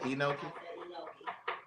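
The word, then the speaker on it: enoki: Well, according to this, it's an What did you say? Enokei. Oh, they saying it's an mushroom. That's a long e. Anokei mushroom. Anokei mushroom.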